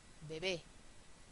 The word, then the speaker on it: bebé: y hbito lo mismo con bajo bajó bebe bebé inglés inglés sí mucho cuidado con esta porque